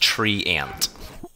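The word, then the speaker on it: Treant: Twitch chat saying that it's pronounced tree ant.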